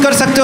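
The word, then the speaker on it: croissant: 8 साल खाने के बाद पता चला था टी साइलेंट होता है। अभी मेरी बेटी ने मुझे टॉक टोक के बताया कि आई भी साइलेंट होता है कि पापा क्रोसो होता है। क्रॉस नहीं होता है। क्रॉस मत बोला करो यार। क्रोसो बोला करो।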